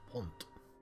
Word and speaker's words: wont: I believe that's pronounced want. I know, not as in the word want. W-O-N-T.